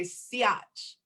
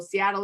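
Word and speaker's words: Si'ahl: tribal leader, Chief Seattle, which I heard Vi Hilbert say Siach. So, you know, not only that, do they steal your land and water, they try to take the name and they butcher the actual, how you pronounce names, right? So Seattle isn't like truly was his name, it was Siach, Chief Siach.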